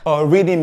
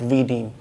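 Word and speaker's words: riddim: do you understand so i just speak that word reading you know like r-i-d-d-i-m you know that's the way they pronounce it wanted to do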